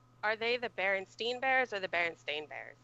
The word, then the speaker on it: Berenstain: It's not even spelled Stain. Like, why we all thought that? Oh, is beyond seriously? Me. Yeah, it's spelled Berenstain. Berenstain. I don't know. Oh my god, it is Berenstain.